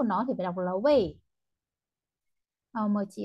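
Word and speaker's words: 喂: Vậy, Cái từ way này, thực tế từ gốc nó đọc là way thanh bốn, nhưng mà đại đa số người Trung Quốc thường hay dùng thành đọc thành way, way là alo ấy,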